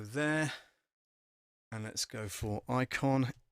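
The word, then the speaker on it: Eikon: now is this one which is the icon it's spelt e i k o n e i k o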